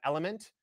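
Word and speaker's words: LMNT: uh actually got this recommendation from over at element which is a company that creates an electrolyte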